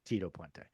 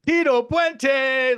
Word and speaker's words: Tito Puente: feel like Rob you're doing it a little wrong when you say his name is Tito pente I feel like you have to say his name is Tito pente like to him you